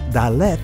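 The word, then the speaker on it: דלת: dalath of the city the hebrew letter dalat which is pronounced daleth in the israeli language is a very important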